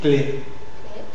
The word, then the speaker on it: clé: alors c'est neé clé pensez à Cl mais vous dites clé cl clé voilà pensez